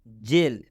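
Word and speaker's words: gel: जेल, जी के बाद ई आया हुआ है इसलिए इस जी का उच्चारण ज हो गया है।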